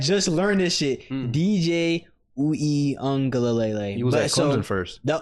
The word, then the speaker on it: Uiagalelei: DJ Uiagalelei. He was at Clemson first. The part, like there's a pronunciation of an N in there, but there's no N in his last name though.